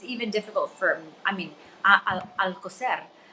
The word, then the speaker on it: Alcoser: And my last name is even difficult for, I mean, Alcocer. So Alcocer, Right. you're rolling of the R.